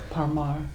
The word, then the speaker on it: Parmar: Parmar.